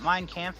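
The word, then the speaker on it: Mein Kampf: dead serious dude's got mine camp on his bedside table you know that's how you pronounce that by the way is mine Camp I'm I'm sure that is a recognizable German mine comp I I knew how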